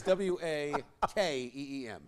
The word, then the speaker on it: Joaquin: mean hope like token ho ho keen lucky what Ockham's Joker phonetically its waa Hey right right Joaquim is